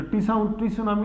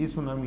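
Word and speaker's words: tsunami: सांप बोला जाता है जैसे 2004 के अंदर आई ये क्या बोलते इसको क्या बोलते हैं अपन सुनामी टी साइलेंट रहता है तो टी सुनामी नहीं है यय सुनामी है ऐसे य जो झील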